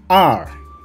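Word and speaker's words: 二: Then R, R, there is fourth tone. So we need to pronounce like R, R, R means 2.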